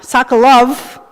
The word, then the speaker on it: Sokolov: We pronounce it as with an F sound. It's written in English with an F sound, but those two V's were used to make that sound, Sokolov, okay?